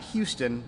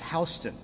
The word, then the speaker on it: Houston: this is another fun one it's not houston in georgia it's houston houston county 196.